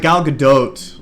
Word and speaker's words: Gal Gadot: No, it's like Gal Gadot, it's kind of an oat, it's French.